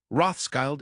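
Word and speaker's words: Rothschild: By the way, Rothsky is the German pronunciation of the name.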